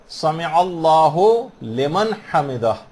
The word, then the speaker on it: سمع اللہ لمن حمدہ: عام طور پر لوگوں کو دیکھا گیا سمع اللہ لمن حمدہ یہ پڑھتے ہیں، اس کو ہو لمن نہیں ہے، سمع اللہ لمن حمدہ.